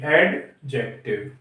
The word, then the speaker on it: adjective: क्योंकि डी के बाद जे आता है तो डी जनरली साइलेंट हो जाता है। तो ADJECTIVE, एडजेक्टिव। अगर हम इसको स्ट्रेस देकर बोलते हैं, अगर हम इसको करेक्टली प्रोनाउंशिएट करते हैं, सही ढंग से उच्चारण करते हैं, तो इसे एडजेक्टिव कहा जाएगा।